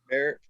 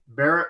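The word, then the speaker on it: barite: Barrett? Barrett Rose? Barrett. Sounds good to me. Yeah, that's how I pronounce it, Barrett.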